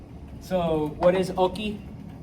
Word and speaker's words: hockey: to kind of clarify, remember we don't pronounce our H's. So, what is oki?